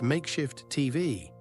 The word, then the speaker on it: MKSHF TV: Welcome to MKSHF TV, pronounced makeshift TV because vowels are a luxury in this economy.